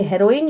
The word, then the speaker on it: heroin: हेरोइन क्या है? हेरोइन जो है, हीरोइन नहीं समझ लेना भाई, जो आजकल हीरोइनें चल रही हैं वो हीरोइन होती है, इसको हम लोग हेरोइन कहते हैं।